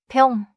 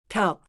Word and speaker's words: 벽: 병 병 좋아요. Do not add an extra vowel after. One clean syllable.